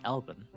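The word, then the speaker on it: Elvaan: Elan an elen adventur Elvin is Elven like something from 11 yeah that's the name of their race instead of elisen it's Elvin oh okay spelled like that El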